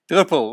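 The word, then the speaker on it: druppel: and the Dutch word is how would you pronounce this I can't hear you duple right excellent I um I hear people talk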